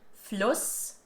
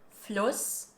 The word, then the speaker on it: Fluss: Or like for example in the word Fluss, with a short U sound and a double S afterwards, which is the word for river, Fluss, versus Fuß, which means foot, and this has a long stretched U sound, Fuß.